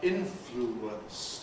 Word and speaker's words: influence: A word like influence. 3 syllables, influence. Compression gives us influence, making it just 2 syllables.